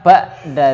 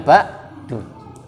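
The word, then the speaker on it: بَعْدَ: Jadi bacanya ba'da, bukan ba'du. Ba'da. Kenapa ba'da? Karena dia maf'ul fi.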